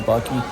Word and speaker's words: Buc-ee: I like their Kentucky Buc-ee t-shirt for sure, and I like the fact that it rhymes Kentucky Buc-ee.